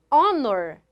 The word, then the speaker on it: honor: tem som de r quando eu falo honor eu não tenho o som do r aqui esse h é mudo então eu tenho um